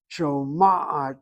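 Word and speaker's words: שומעת: No, you hit the accent on the first patach. Oh, okay. Do you see the way she shows that to you on the chart? Yeah. She puts that little Shoma'at. Oh, Page 89. No, look at the way she writes out that chart. She correctly shows you where the emphasis is, not the last syllable.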